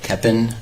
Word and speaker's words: Koeppen: name and spell it my name is eric keppen and last name is spelled k-o-e-p-p-e-n okay a couple of things